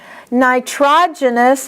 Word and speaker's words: nitrogenous: Here's another one that's oftentimes mispronounced. The accent is on TROG. Nitrogenous waste.